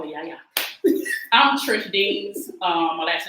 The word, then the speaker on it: Eanes: I'm Trish Deans. My last name is spelled D as in David, EANES, Trish.